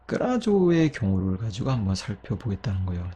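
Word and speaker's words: κράζω: 근데 끄라교 역시 발음하기 쉽지 않아요. 끄라교, 끄라교. 그래서 이 끄라교가요, 마찬가지로 끄라조로 발음이 변화가 되게 돼요.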